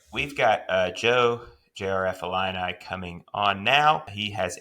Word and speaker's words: jrfillini: All right, we are here with Joe JRF Illini, or the man I called JR Fellini once upon a time, and he promptly corrected me about that.